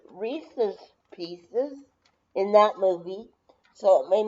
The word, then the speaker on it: Reese's: it's the same company, so Reese's is probably called Reese's instead of Reese's. Don't pronounce the E's. It's somebody's last name because of the apostrophe, so it's probably Reese's.